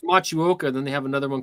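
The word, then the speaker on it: Motueka: Matuka, but it's pronounced Machuoka.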